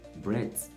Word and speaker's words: breath: All right, breath. Once you are hearing that air sound, know that it is the noun.